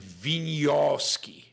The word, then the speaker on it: Wieniawski: Thomas says you pronounce it Wieniawski. Wieniawski.